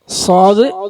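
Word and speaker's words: صاد: ഇൻസാനലഫീസ് ഇല്ലല്ലീന ആമന അമലുവാലിഹ ഈ സൂറത്ത് ഓതുമ്പോൾ ശ്രദ്ധിക്കേണ്ട കാര്യം സ്വാദ് സ്വാദിന്റെ ഉച്ചാരണം നമ്മൾ മദ്രസയിൽ പഠിച്ച ഒരു സ്വാദഉണ്ട് അതെന്താ സ്വ അല്ലേ സ്വ എന്നാണ് സാധാരണ നമ്മൾ സ്വാദ് ഉച്ചരിക്കൽ ഇങ്ങനെയാണ് സാധാരണ നമ്മൾ സ്വാദ് ഉച്ചരിക്കുക ഇംഗ്ലീഷിൽ ആണെങ്കിൽ നമുക്ക് ഇങ്ങനെ എഴുതാം സ്വാ പക്ഷേ ഇത് രണ്ടുമല്ല സ്വാദ് സ്വാദ് ഉച്ചരിക്കേണ്ടത് എങ്ങനെ വച്ചാൽ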